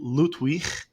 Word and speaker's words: Ludwig: cool artificial intelligence tool loot we this is the name um as you like I pronounce it the German way you know I'm not